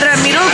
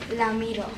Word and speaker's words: Ramiro: Another thing JJ always says is, how do you say Ramiro's name? Ramiro. He says it with an L. Ramiro. Like he's always, since he's met him, calls him Ramiro.